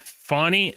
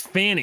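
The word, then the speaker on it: Fani: the the uh the fanny Willis situation it's pronounced F get it right yeah right sorry f f fonny it's Fanny is funny it's funny they all the media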